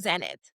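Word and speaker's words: Xenit: Yeah, it's called Zenit. It's spelled with a X though.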